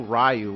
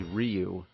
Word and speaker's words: Ryu: We didn't know Ryu was actually Ryu.